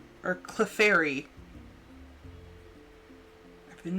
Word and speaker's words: Clefairy: And then Clarify or Clefairy. I've been mispronouncing it my entire life.